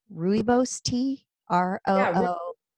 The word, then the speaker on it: rooibos: on, I don't know if I'm going to pronounce it right, rooibos tea, R-O-O. Yeah, how do you say yes. it? Rooibos.